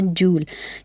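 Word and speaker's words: joule: और ये जो वर्ड है जूल, इसको मोस्टली लोग जाउल रिप्रेजेंट करते हैं, बट इसकी करेक्ट प्रोनाउंसिएशन है जूल, क्योंकि जेम्स जूल जो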